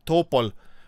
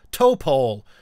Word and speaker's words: Topol: give them the uh Topol uh rocket which sounds mental the way it's supposed to be pronounced in Russian topple is some kind of tree I don't remember which